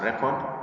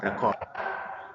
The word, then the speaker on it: record: So like for example, in the first word, as a noun, this word comes out as record. Then as a verb, it comes out as record.